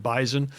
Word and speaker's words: bison: The NDSU bison. Uh, just to make sure for all your listeners, it's spelled B I S Oo N. It's pronounced B I Z O N like a Z.